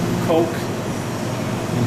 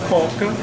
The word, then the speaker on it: Coca: here, Fanta, of course, Coke. Important thing to remember when you come to Brazil, if you say you want to order a Coke, quero Coca, notice they pronounce it Coca, not Coke.